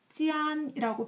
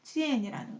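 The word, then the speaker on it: 见: 중에 역시 또 연습할 기회가 있을 텐데 우리 짜이젠이라고 안녕 잘가 또 봐 라고 했을 때 이것을 찌안이라고 발음하면 안 된다는 거, 찌엔이라는 거.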